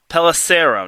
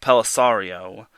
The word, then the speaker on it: Pelissero: It's Pelissero, not Pellisario.